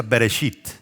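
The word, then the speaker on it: בראשית: leerse y comienza con una palabra en hebreo que se pronuncia bereshit y después adelante dice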